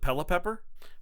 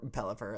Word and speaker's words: Pelipper: Curtis calls it, Pelipepper? Pelipper? No, it's not. It's not Pepler. Or Pelipper, as it's correctly pronounced.